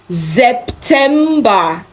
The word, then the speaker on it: September: Just that remember, when you have S starting a word or the syllable of a word, it sounds Z.